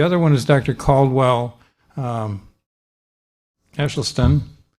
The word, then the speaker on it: Esselstyn: Caldwell Esselstyn. It's a Dutch pronunciation, and I tend to do it in German.